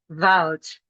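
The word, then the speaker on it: Wald: Take for example the German word vault. Vault. Vault. The equivalent would be forest. Vault is actually written with a D in German, but we pronounce this with a T.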